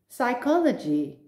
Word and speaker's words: psychology: examples now you'll see the red letter p which i do not pronounce and next to it